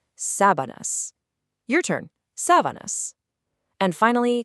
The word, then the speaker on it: sábanas: Here, the emphasis is right at the start, sábanas.